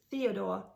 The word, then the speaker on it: Theodor: Let's take Theodor in German. It's Theodore in the US. So also very different in the pronunciation.